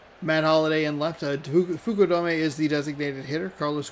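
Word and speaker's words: Fukudome: It's a little choppier than you might think, but we'll talk about Figgins at third base. Then it's Cos Kosuk Fuku Dome. Matt Holiday in left. Fuku Dome is the designated hitter.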